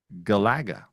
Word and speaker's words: Galaga: So from now I don't know how true that is, but from somebody that's in the know, he said it's Galaga.